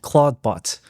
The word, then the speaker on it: Clawdbot: And this technology was made possible due to a new exciting open source software called Claudebot. And that's spelled C L A WD because the creator Peter Steinberger seems to really like lobsters.